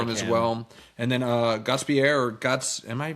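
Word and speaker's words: Gostisbehere: And then Gottsbier, am I pronouncing that Gottsbier? I'm going to say that's right. I think it's Gottisbeer.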